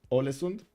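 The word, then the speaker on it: Ålesund: The A in Alessund is pronounced like the O, so wait, it's Olesund, bomb, Olesund. Okay, he might lose Kish.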